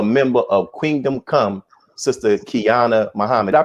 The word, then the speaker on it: Qiana: and also a member of Kingdom Come, Sister Qiana Muhammad. Did I pronounce that right?